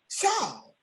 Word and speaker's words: Chau: Chau is how you pronounce Hi. that beautiful name. Am I right about it? Yes, ma'am. like shout, just take the T out.